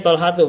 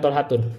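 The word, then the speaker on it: طلحة: Talhatu, bacanya Talhatu bukan Talhatun karena dia isim ghair munsharif.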